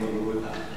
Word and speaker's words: Muguruza: and I've been corrected on the way that I'm using the Z. I'm saying Muguruza. Ah, much better.